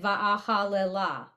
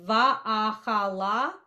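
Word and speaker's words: ואהללה: I always say it va'ahalela. Va'ahal. So it's technically va'ahala, but I've also heard it va'ahalela. So technically the shva on the lamed is silent, but I'm not going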